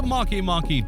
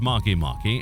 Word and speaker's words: Makemake: As a curiosity, the name of this object is pronounced like this, as it is written, as much as it may seem a repetition of the word make.